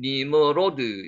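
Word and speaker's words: נִמְרֹד: 니머롯. 실제로 발음은 니머로드. 요렇게 되죠. 니머로드 렇게 됩니다.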